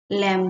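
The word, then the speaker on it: lamb: लम का तो हम लम लम लैम B silent है यहां पे लेकिन ए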